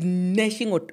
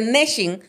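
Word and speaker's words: gnashing: says there will be nashing of teeth but the nashing starts with a g so the g is silent okay all right you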